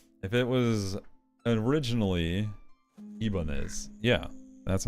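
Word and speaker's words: Ibanez: a Japanese one then I'm going to keep pronouncing it Spanish cuz that's the True Heart of the corporation I don't care what the the Japanese say if it was originally ibanes yeah that's how I'm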